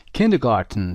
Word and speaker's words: kindergarten: کیندرگارتن، تلفظ دقت داشته باشید، گاردن نیست، گارتن یک کلمه آلمانی هست، اومده مدرسه مهد کودک هست.